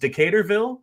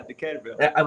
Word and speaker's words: Decaturville: So being a native of, I think it's pronounced Decaturville, Tennessee. Oh, God. Yeah. Decaturville.